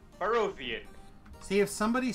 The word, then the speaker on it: Barovian: It's not a hard I. It's a European I. It's pronounced E.